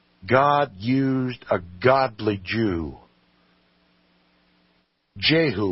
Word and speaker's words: Jehu: Jehu, we pronounce it. It was properly pronounced Jehu.